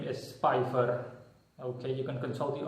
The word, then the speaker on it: Spipher: So, in short, his name is simply pronounced Spipher. So, you pronounce it Spipher.